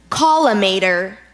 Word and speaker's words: collimator: Collimator.